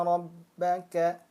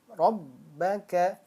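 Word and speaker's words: رَبَّكَ: bukan termasuk gunnah musyaddadah, maka dia apabila bertasydid dibacanya hanya ditekan. Rabbaka. Nah, ditekan kan? Rabbaka. Kalau tidak ditekan seperti apa? Rabbaka. Nah, seperti itu. Dia biasa saja karena tidak ada tasydid, tidak ada nabrohnya di sini.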